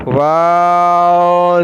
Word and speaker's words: و: दोनों लिप को जब राउंड करेंगे तो वाव अदा होगा।